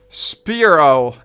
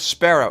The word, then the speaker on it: Spearow: Spearow. As in a spear weapon and...